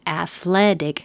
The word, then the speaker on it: athletic: And if it's athletic, the stress moves to the second syllable. Athletic. Ethnic.